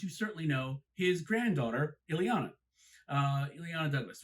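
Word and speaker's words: Illeana: Then you have Melvyn Douglas, who you might not know his work, but you certainly know his granddaughter, Ileana. Ileana Douglas, right? That's how you pronounce it.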